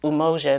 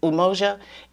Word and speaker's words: umoja: And we have the 7 principles that are unity, and that's pronounced umoja, and those are Swahili names. Actually, it's umoja, which represents unity.